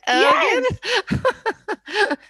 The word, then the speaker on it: Elgin: Scotland called, I don't know if I can pronounce it properly, Elgin. Is it Elgin?